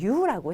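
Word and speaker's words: 言う: 자, 이유라고 하는데 발음은 유라고 해요.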